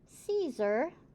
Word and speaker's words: Caesar: Carson, Caesar, we have a soft C there, and Columbus.